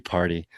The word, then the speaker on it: Pardee: I say, wow, I just realized that Pardee is actually party. Party Label, but it's spelled Pardee label on eBay, sells these labels.